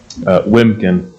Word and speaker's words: Wiemken: is that pronounced Wiemken? Wiemken. Wiemken. Just like take out the first E.